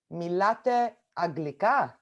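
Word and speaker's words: μιλάτε αγγλικά: So the way you pronounce that is milate aglika.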